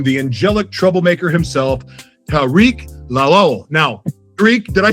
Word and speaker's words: Lawal: Please help me welcome the angelic troublemaker himself, Tariq Lol. Now, Tariq, did I say your last name correctly? Yeah, it's pronounced lal.